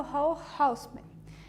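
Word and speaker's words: Raoul Hausmann: O tema da aula de hoje é a colagem tridimensional novamente, e a gente vai focar num artista chamado Hall Houseman, pronúncia alemã, né?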